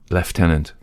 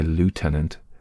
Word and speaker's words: lieutenant: Now left tenant. Americans say lieutenant. The Royal Navy say something like latenant latenant. I don't know what they what they say, but they they don't say it.